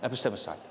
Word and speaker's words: epistemicide: How should I pronounce it? Epistemicide? Like epistemicide. Okay, thank you.